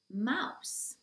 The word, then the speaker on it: mouse: only one in English Mouse so not mouth suit but mouse mouse and then we have